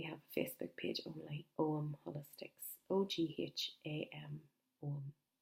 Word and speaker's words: Ogham: live in Omagh, and Ogham and Omagh are the same letters, only in a different way, and the GH is silent in both.